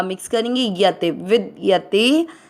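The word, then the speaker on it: विद्यते: पहला चरण ना स में अ मिक्स करेंगे, ना सतो, वी के साथ आधा द विद य में अ मिक्स करेंगे, यते विद यते भावो।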